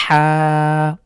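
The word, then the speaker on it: حاء: হয় ঠিক অনেকটা এরকম হা কন্ঠের মাঝখান থেকে হলকের মাঝখান থেকে বা কণ্ঠনালীর মাঝখান থেকে চাপ দিয়ে এভাবে উচ্চারণ করতে হবে হা অনেকের এই হার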